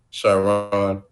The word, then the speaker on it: Shiron: It's Q. My first initial, Sharon, SHIRON Albertie. Gotcha. B as in boy, ERTIE.